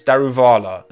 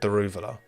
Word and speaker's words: Daruvala: pronounce it isn't it it's daruvala not the ruvola I think anyway um